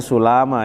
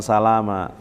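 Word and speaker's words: سُلامى: Ya, ini dibacanya sulama ya, bukan salama.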